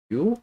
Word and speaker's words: VIU: It's called VIU, uh, pronounced View, and it's a 2D space puzzling gravity kind of game.